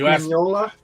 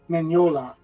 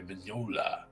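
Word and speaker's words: Mignola: Mike mola like what Mike mola yeah CU it's Manola okay Manola hey that's his namea I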